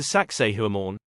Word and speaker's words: Sacsayhuamán: of kusco Peru say hello to saak whoor and no it's not pronounced like the animal let's keep it classy